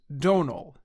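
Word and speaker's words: Domhnall: wrong the right way to say it is Donal in fact their names are among the most mispronounced names of 2022.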